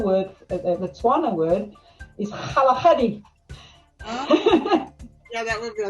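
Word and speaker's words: Kgalagadi: areas are is it yeah it's the the kalahari or that actually it's even harder to pronounce the real word the real word the swanna word is halahadi yeah that would be a little more difficult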